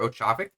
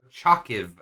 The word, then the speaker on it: Ochakiv: I'm a little surprised that they didn't opt to try and go for Ochavik. All right, I'm gonna make sure I pronounce this. I'm very surprised at Ochakiv. that. Ochakiv. There we go.